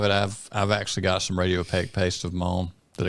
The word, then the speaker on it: radiopaque: So that's the talking terminology, Radiopaque, and it's Radiopaque is the actual word. You said Radiopaque. Well, I say stuff wrong most of the time anyway. I think you had the emphasis on the wrong syllable.